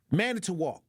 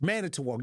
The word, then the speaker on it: Manitowoc: Sometimes I don't even know how to pronounce that name. Manitowoc. That's what it is. Manitowoc.